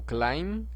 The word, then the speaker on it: climb: Aquí tenemos un ejemplo que es el verbo to climb, que significa escalar. Este verbo En este verbo la pronunciación de la letra B es muda. La letra B no suena.